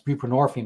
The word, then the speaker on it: buprenorphine: It's buprenorphine, it rhymes with morphine for a reason.